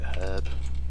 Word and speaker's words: herb: evading them yeah well herb's got a h that's why we pronounce it herb you say herb i'm